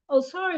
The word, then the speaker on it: Osar: Osar is an ancient Kemetic pronunciation of the Egyptian deity Osiris.